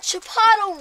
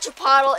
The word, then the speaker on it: Chipotle: right we got that chipotle ranch set up over there I know it's not Chipotle it's Chipotle but like I said I don't care that's how it's spelled but we got another